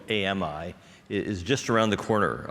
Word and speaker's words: AMI: a misnomer um so I prefer the phrase AMI that we pronounce AMI that means advanced machine intelligence okay it's just vocabulary um